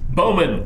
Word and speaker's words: Bowman: And it rhymes with snowman. Bowman.